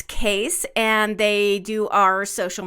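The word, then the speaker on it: Kees: name case in its k EES right its case and they do our social media management their name is spelled ke es case alright case well thanks for being around and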